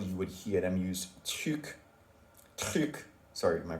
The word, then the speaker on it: truc: She's like, because sometimes you might be talking to somebody and you might mention a lot of things and you're saying truc, and the person may not know, okay, which thing you're talking about.